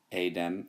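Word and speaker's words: eidem: Then ei dem, ei dem. I'm just emphasizing the pronunciation there. It's pronounced adem, adem, adem.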